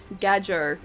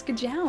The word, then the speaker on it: Gajau: Because otherwise I'd just be saying Gajo. And that's not how you say it, it's like it's Gajau, it's like that's how you're supposed to say it.